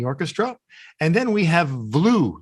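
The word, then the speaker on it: Vlue: and then we have blue that's spelled with a v v-l-u-e a new way to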